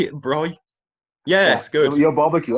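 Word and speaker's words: braai: Bry. yeah. Yes, good. Your barbecue. Oh. Yeah, yeah. We, Yeah, we just call it barbecue or BBQ if we're being yeah, lazy. But Bry at the beach or Bry in the bush.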